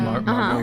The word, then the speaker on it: Margot: I tweeted, this conversation came up on Twitter, and I posted a picture of Margaret Robbie. Is that how you say it? Margot Robbie.